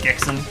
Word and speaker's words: Gixon: Well, actually for like a month I was GIX Oo N, but it was still pronounced Gixon.